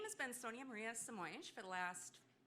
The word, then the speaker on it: Sonia-Maria Simões: So let's please give a warm welcome to Sonia-Maria Simões. And I hope I pronounced your name correctly.